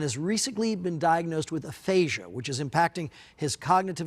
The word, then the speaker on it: aphasia: Jandial, I don't even know how to necessarily properly pronounce it. Aphasia, is that correct?